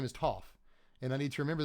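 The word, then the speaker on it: Toph: I really have to watch this show. Apparently, I'm mispronouncing everyone's names. Like, everyone is so mad at me for saying to over and over. Apparently, it's Tooff.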